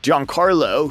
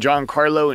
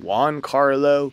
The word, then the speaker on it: Giancarlo: He confirmed this when he said, "No one could pronounce it right. Everyone thought it was two words. Giancarlo, Juancarlo, Giancarlo. You have seven periods in school, so seven times a day. No, that's not the name."